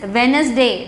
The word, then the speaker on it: Wednesday: one is month day okay and wednesday every pronunciation children that is wednesday day is a silence pronunciation wednesday d silence